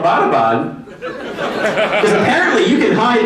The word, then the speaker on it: Abbottabad: And she's like, yeah, and it's not pronounced Abbottabad. I was like, oh, how do you say it? She was like, it's Abbottabad.